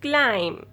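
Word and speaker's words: climb: आप लफ्ज़ क्लाइम के आखिर में हुर्फ बी अदा नहीं करते, यानी कि बी साकिन है, यानी कि बी खामोश हुर्फ है. एंड नाउ you pronounce this word is क्लाइम.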